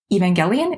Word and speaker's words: Evangelion: So Neon Genesis Evangelion, is that how you say it? Yeah, hard G.